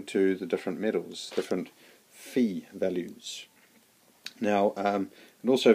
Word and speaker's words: Phi: a sidet track that is you call it Pi but it's actually pronounced P I did a little bit of